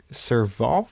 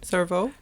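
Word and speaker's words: cerveaux: there's a dish called servvo I guess servvo is brain Servo yeah how do you spell it c e r v a u x that is not how I I thought it was like s e r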